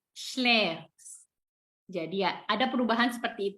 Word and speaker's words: schläfst: Tapi pada saat du sama en-nya hilang, tambahin st, tapi huruf a-nya di sini berubah memakai umlaut, pakai titik 2. Jadi bacanya e. Jadi du schläfst.